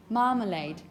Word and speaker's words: marmalade: Bear in mind we have the stress syllable, the first one, ma, and then this is schwa, marmalade.